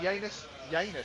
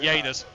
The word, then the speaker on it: Janus: And Janus, I keep pronouncing it with like a Y instead of a J, and I don't know why I'm doing Janus.